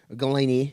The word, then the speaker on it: Golini: Golini, if you want to pronounce it, Golini.